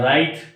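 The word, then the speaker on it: write: राइट, rap, wrong, इस तरह और भी वर्ड्स होंगे जहाँ पर जिस वर्ड में W और R जब भी साथ आते हैं तो W खामोश हो जाता है।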